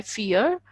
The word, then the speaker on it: vier: Okay, so V is fur, IE is E. IE is pronounced as E. As we have this English word fear. So null, ein, zwei, drei, vier.